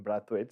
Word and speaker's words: Brathwaite: uh from my memory like uh when he did play the test in Barbados they all called him brathwood so I don't know maybe it's changed uh he and by the way that came from the great Philip Spooner who is their media manager he said he said that is the the Bayesian way to pronounce his name yeah well Phillip Spooner